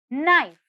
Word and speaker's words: knife: silent the next word knife knife knife here if you see k is silent let's have a look